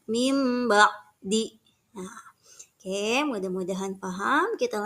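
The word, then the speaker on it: من بعد: Nah, contoh, mim ba'di. Di sana ada nun sukun, min. Itu nun sukun, kedepannya ada huruf ba. Bacanya tidak membaca min ba'di, tapi membacanya mim ba'di.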